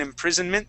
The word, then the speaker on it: imprisonment: that s sound in imprisonment that would not be imprison with an s that is going to be a z sound imprisonment okay imprisonment good